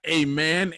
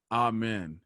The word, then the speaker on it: amen: not address a man it's not a man amen it's what i think it's supposed to be pronounced ah man yeah but it's it's